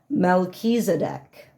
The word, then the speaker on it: Melchizedek: just could, so let me get the correct pronunciation. Melchizedek.